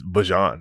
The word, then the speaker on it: Bijan: I used to like I tell people I've been saying it be bjon my whole life and my mom's like why do you say that? Like it's bjon and I'm like so but however you